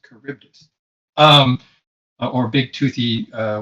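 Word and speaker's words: Charybdis: picture here oh there's a caribdis on the map and the pronunciation is carus um or big toothy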